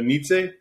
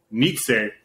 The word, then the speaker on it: Nietzsche: oh i don't know i always thought was pronounced completely wrong then i thought it was like basically pronounced like not that it's spelled this way but like n-i-c-h-e like nietzsche yeah sure but i